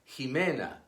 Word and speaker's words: Ximena: few names and surnames it is pronounced like the J in Spanish Javier Ximena at the beginning of